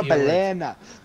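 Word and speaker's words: balena: Oh, we he's like, oh, no, Belena. That's how you say it.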